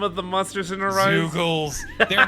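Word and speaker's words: Zeugles: Zoogles.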